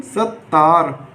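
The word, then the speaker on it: ستار: जिस हरूफ पर तस्दीर लगाई जाती है वह हरूफ हमारा 2 बार पढ़ा जाता है, इसलिए सीन, ये ते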